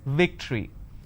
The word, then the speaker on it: victory: okay next i have the word which is victory they pronounce this as victory now remember what i said if you have the letter v you need to bite your lower lip it's victory and if it's w